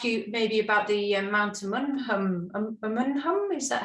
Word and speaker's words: Umunhum: Well, I was just going to ask you maybe about the Mount Umunhum. Is that how you pronounce it? Umunhum, yeah, Mount Umunhum, yeah.